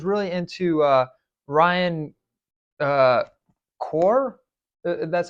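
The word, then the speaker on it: Corr: good I was really into uh Ryan uh core that's how you say his name he he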